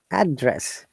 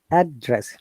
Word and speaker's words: address: Address, when it is noun, we stress on the first part of the word, or if it is a bisyllable, remember, bisyllables two stress, address two stress, noun. Address. Now if it is a verb, we stress and the second syllable, like address.